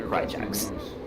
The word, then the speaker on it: Krychax: And he has specifically told me to pronounce his name Krychax.